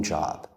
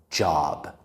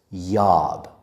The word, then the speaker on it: job: Before I end this video, I want to talk about the pronunciation of the word job. Many students mispronounce this word as yob.